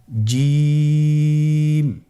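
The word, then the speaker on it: ج: আবার বলুন, দেখেন ঠোঁটের অবস্থান কীরূপ হবে, আপনারা একটু লক্ষ্য করুন জিম।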